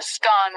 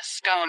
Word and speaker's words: scone: the pronunciation of scone both scan rhyming with gone and scone rhyming with bone are accepted pronunciations though Regional variations exist